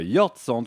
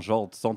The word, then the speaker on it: Jordsand: Mais effectivement, Brahim, ce soir, j'inaugure Queer and Pop avec un auteur-compositeur, Jord Sand, qu'on peut prononcer également Jord Sand, ça s'écrit comme ça en tout cas, J-O-R-D-S-A-N-D.